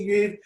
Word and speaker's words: DeGreve: Today, our guest is Haley Degreve. Am I pronouncing your last name right? Yeah, you did. Haley Degreve.